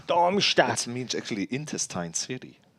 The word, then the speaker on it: Darmstadt: Darmstadt. Darmstadt.